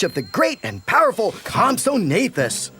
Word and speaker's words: Compsognathus: Ah, you have come to the late Jurassic period in search of the great and powerful Compsognathus. That's Compsognathus. It's very easy if you practice.